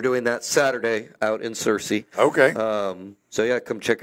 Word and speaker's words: Searcy: Yes, Searcy.